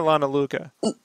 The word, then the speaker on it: Luca: Lana Liuka or Lana Luca? Luca. Say Luca. Lana Luca.